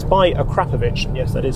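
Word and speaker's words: Akrapovič: the extra money on its own it's by a crapper yes that is how you pronounce it and adds a local character from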